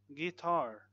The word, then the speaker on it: guitar: Silent U in words like guitar, guilty, guard, colleague, and guess.